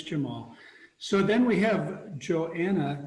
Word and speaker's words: Johanna: So then we have Johanna, the H is silent silver.